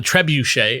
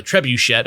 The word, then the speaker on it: trebuchet: now defunct blog called the Trebuchet or the Trebuchet. I don't even know how to pronounce that word. It's the first time. The first one was right. You got it.